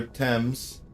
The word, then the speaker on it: Thames: The River Thames. I always have a problem when I read the river's name. Like, it's spelled Thames, but it's pronounced Thames. I hope I'm pronouncing that right, at least.